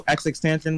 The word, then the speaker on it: XXXTentacion: Tentacion. XXXTentacion. That's how you say his name? Yeah, that's how you say it. Bro, I've been saying tension this whole time, but oh my god.